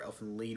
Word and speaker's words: Elfen Lied: back and I'm really excited to talk about Elfen Lied or elfin lead whichever you want to pronounce it Dark Horse is putting in these